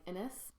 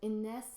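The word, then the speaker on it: Inès: And okay, this one's more high risk of getting butchered in English and just saying Ines, but Ines is a super classy name.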